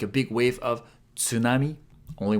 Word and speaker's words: tsunami: Tsu is pronounced like tsu in tsunami. Tsunami is how we say it in Japanese. I know in English we say tsunami. Sometimes we even skip the T, tsunami.